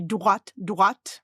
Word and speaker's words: droit: So there's a word, how you will pronounce droit. I will say droit, like in Detroit, the city.